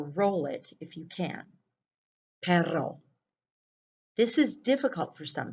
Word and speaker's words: perro: want to do that the second word is perro with two r's and it means dog like